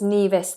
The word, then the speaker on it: Nevis: me talk to me oh it's Nas there we go thank you Oxford dictionary this is a long vowel e apparently St kits and Nas